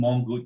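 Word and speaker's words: Mongkut: I learned and um and yes you did pronounce the the name of the University rather well King mongook University very very good most people have have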